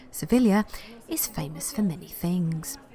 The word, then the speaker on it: Sevilla: Angela seeing capital surveil or as the Spanish pronounce it they should know Sevilla is famous for many